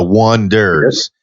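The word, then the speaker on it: Oneders: the wonders and they wanted to spell it oh and II D ers the wonders and it looked like the able leaders that's right that in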